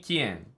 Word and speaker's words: Keen: his name Fred Keen I specifically asked him how to pronounce his name and he unless I misremembering he told me Kian so we'll have to